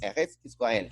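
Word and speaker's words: Eretz Israel: acerca de Eres Israel, o Eres Israel, como es lo correcto, como se debe pronunciar en hebreo.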